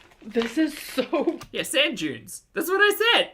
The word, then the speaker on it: Dune: my my June readers June Dune Dune it's not it's Dune it's not June but it is kind